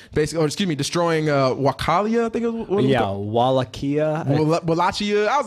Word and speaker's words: Wallachia: Wallachia. Wallachia. I was like, I don't know. I said Wichita. It's spelled Wallachia.